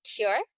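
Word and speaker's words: KIR: Yeah, so the business is cure. That's how you pronounce it.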